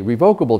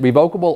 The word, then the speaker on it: revocable: up in the dictionary you can pronounce it revocable or revocable or irrevocable or irrevocable either way it's okay there are regular I